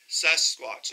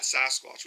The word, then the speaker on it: Sasquatch: Sasquatch, not Sasquatch. We say it wrong. I say it wrong sometimes, but anyway, so now he's got an open mind.